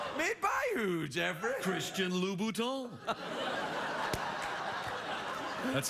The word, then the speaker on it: Louboutin: How about their giant floppy red shoes are made by Christian Louboutin? Made by who, Jeffrey? Christian Louboutin.